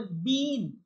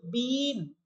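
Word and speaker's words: bean: টিন, অর্থাৎ কোনো টান আমরা দেইনি, এটা কিন্তু টান দিয়েছি, বিন।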